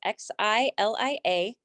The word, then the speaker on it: Xylia: And the last name is, that's spelled TAU, double S's in Sam, IG. Great. Okay. And then Xilla? Xylia, it's Xilia.